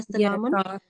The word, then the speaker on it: سلام: So if you stop here, how do you read this first word? Oh, it would be salam.